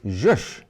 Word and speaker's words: zhush: 2023 also welcomed the word zhush into our regular vocabulary, as to be distinguished from shush.